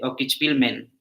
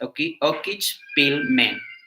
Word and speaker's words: Okichpilmen: Es como Okichpilmen. Okichpilmen con N, ¿no? Terminas Okichpilmen, como men de hombres, Okichpilmen, bueno, es en inglés, Okichpilmen.